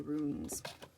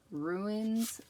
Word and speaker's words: runes: The Power of the Runes. And my husband makes fun of me because I have a tendency to say ruins and not runes.